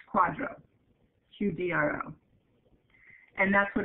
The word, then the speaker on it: QDRO: for qualified Domestic Relations order you'll heard that pronounced Quadro qdro and that's what it's dealing with is